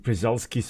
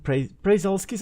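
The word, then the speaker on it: Przewalski: They are very, very similar to Presulski's horse. Prazulkis, I think it's actually how you pronounce it.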